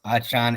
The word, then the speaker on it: Achane: Achane has actually come out and said, yes, it's pronounced Achane.